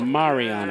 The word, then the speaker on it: Mariano: Mariano. A little bit of a roll in there.